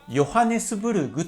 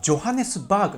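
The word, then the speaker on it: ヨハネスブルグ: んですが、日本ではヨハネスブルグと書くじゃないですか。ただこの発音って違うんですね。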